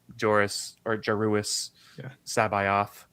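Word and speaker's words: Joruus C'baoth: I'm really excited about it to go with Joruus Sabayoth.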